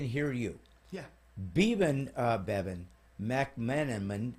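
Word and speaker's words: Bebhinn: you yeah bieben uh Bevin Mac management it's such a crazy name to say I love her but my gosh b-e-b-h-i-n-n-bevin so I clearly son why would I think BH pronounce v well I mean there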